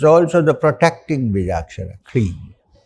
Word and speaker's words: Kleem: It's also the protecting Beejakshara, Kleem. K-L-E-E-M, Kleem. Aim, Kleem. And Sauh. Next syllable is Sauh.